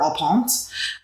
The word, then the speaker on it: au point: So I think if you're looking for medium rare, you should order au point. A point is how it's spelled. Au point.